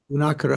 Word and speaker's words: Gunakara: And then finally, in chapter 6, the Bodhisattva Gunakara, or is that pronounced Gunakara? How would you pronounce it? Yeah, probably Gunakara. Gunakara, because there's a long A there you put the emphasis on.